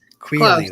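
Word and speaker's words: Queally: Quilly. Queerly, that's how you say it.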